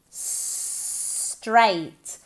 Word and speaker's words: straight: Straight. Straight, como si fuera S-T-R-E-I-T.